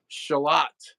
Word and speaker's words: Charlotte: of Lake Ontario called shalot and it's spelled like Charlotte but it's you don't pronounce if you're from shalot you don't pronounce the R so you know who's a tourist and who's not yes yeah just like